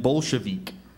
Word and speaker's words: Bolshevik: different for you bolik balik bolik bolik and Bolshevik bolik b o l s h e v